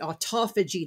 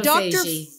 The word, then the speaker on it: autophagy: Well, actually the Greek that I think Dr. Fung even says that if you break it down the Greek, it is auto, and the French say phagie. It means self-cleaning. Ah. But in the U.S., because we use different emphasis on our syllables, we say autophagy.